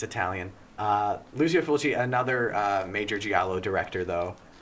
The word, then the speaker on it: Lucio Fulci: I think I mispronounced that. It's Italian. Yeah, it's Italian. Lucio Fulci, another major giallo director, though.